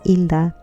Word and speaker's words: Hilda: I go by my middle name, but my first name is Hilda. In Spanish, the H is silent.